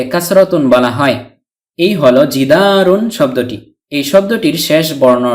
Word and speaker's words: جِدَارٌ: হলন্ত বা হসন্ত যুক্ত দন্তন্য বর্ণ এই হলো জিদারুন যদিও নুন সাকিনকে তানভীনুন বলা হয় কিন্তু লেখার